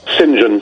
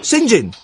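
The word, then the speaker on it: St John: is St dot John you know how that's pronounced don't you singen Singin the what is that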